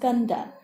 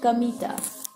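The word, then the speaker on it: Kamita: field God's field but it wasn't pronounced Kanda as you might expect it's pronounced chemita I remember that the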